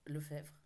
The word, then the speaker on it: Lefebvre: de la saga Lefebvre Lefebvre on prononce plutôt le chèvre je pense de Noémie Dany qui